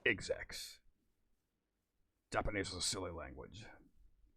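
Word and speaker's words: Xrd: a fun fact for you it's actually not pronounced x2 or xbox it's pronounced execs japanese is a silly language and daisuke is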